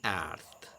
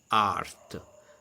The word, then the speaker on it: earth: It comes natural to me to pronounce art. That is not correct because can be confused with the art, earth, earth.